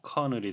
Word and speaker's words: colonel: 내용을 함께 살펴보시겠습니다 카 원어 발음에 유의 하셔야 되겠네요 콜론 a 아니고 커널이 되겠습니다 어느 오피 서브 하에